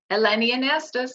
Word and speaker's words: Eleni Anastos: Yes, Did I it's so pronounce good that to right? be here. Eleni Anastos, yes.